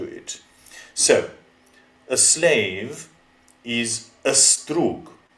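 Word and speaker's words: ստրուկ: So, a slave is a strug. So an a is pronounced before the s and the d and the r. It's not sdrug, nor is it sdrug.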